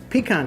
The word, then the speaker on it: pecan: And so tell me the theory behind the how do you say, pecan, right? That's the proper way of saying it. Pecan is right.